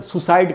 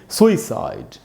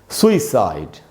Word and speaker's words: suicide: इसमें सू में जो ऊ है उसी पर स्ट्रेस है, वहाँ ज़्यादा रुकना है, और इसको हम पढ़ेंगे सुइसाइड, सुइसाइड।